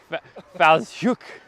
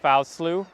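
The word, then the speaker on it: Fowlsheugh: I tried to say it Fowlslew because that's how it looks like where it's spelled. That's where we're at, is the Fowlshoek Cliffs Nature Reserve, and the very nice lady at the bed and breakfast that I'm staying at corrected me very nicely.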